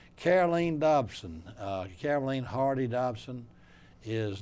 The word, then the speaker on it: Caroleene: People want to call her Caroline, probably did all of her life, but it's really Caroleene.